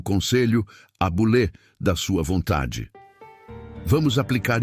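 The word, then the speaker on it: βουλή: A palavra é boule, que se pronuncia boulé.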